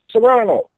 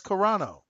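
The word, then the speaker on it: Carano: was looking it up it is a c a r a n o so I would say that's corano corano that's what I thought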